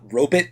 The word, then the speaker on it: robot: in these days though they used to pronounce robot ro bit so you hear that